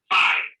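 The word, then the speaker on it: π: It is pronounced P as in pay.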